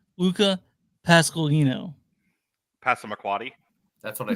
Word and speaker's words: Pasqualino: His name is pronounced Luca Pasqualino.